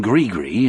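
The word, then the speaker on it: gris-gris: I grew up believing in Grigree as well. Only up in the hills we set it to rhyme with kiss.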